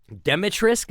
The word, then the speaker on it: Dimitrescu: Dimitrescu, is that how you say it?